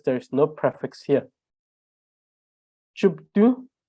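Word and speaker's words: བཅུ་བདུན: Chupdu, because there is pa here, which is added to the first syllable, it becomes chup, chupdu, 17, choke, 18, chuku, chuku, chu, chu.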